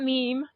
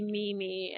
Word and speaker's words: Mimi: sure which is right it is not meme uh we were making we were laughing about that yesterday that now in 2024 we read that as meme but it would be Mimi as how we say her name correct correct not mayay